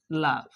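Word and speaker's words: love: এই এখন যে ই লেটার আছে ইয়ার কোন উচ্চারণ হুয়া নাই। লাভ।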